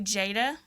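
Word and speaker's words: Jaida: yours truly came from my name is actually jada so um but it's spelled j-a-i-d-a so i just shortened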